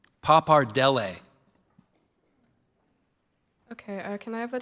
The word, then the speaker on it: pappardelle: Excuse me, I said the last, let me say it again. Pappardelle. Pappardelle.